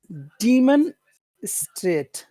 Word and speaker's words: demonstrate: you pronounce that word demon Strate demonstrate demonstrate demonstrate yes not demonstrate demonstrate it's always it's it's that first syllable demonstrate demonstrate demonstrate demonstrate